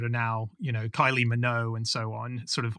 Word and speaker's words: Minogue: She was Minnow, as in like that's technically the correct way to pronounce it, but that's not the way anyone in the world has pronounced it over the last 30 years.